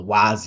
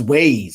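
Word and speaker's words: Waze: then you got ways which I call Wy because it's spelled w a z so I always thought it was Wy and then my girlfriend like no was ways I'm like why the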